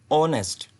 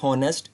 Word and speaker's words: honest: That is वाई आप लोग देखें कि बेशक ये हॉनेस्ट वर्ड स्टार्ट एच से हो रहा था, एच से हो रहा था, बट ये जो जब हम इसको करेक्टली प्रोनाउंस करते हैं तो ये आवाज़ जो सी देता है बोलने में, ये ऐसा लगता है कि ये ओ से स्टार्ट हो रहा है। ऑनेस्ट, नॉट हॉनेस्ट, इट्स ऑनेस्ट। ऑनेस्ट बोल रहा हूँ तो